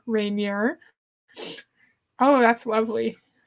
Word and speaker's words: Rainier: Mount Rainier.